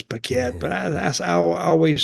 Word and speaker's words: Paquette: I know it's Paquette, but I always said her name wrong.